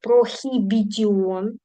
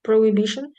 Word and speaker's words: prohibition: Ви пам'ятаєте, що пишеться прохібітіон. Хтось мене почує і з ума зійде. Жах. Proibition. Аїч не читається, мої хороші.